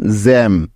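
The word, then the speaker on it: gem: তাহলে জি ই এম মিলে হয়ে যাবে জ্যাম।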